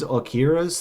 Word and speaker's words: Akira: $1,000 value, maybe even more for one of these Akira's things. Akira is how you pronounce it correctly, but basically, come and